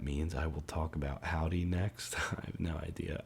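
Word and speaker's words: Hovvdy: of my favorite bands the band howdy spelled with two v's um actually put out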